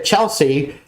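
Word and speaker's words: Chelsai: which is c-h-e-l-s-a-i so a lot of people mispronounce it as chelseai but it's actually Chelsea so there you go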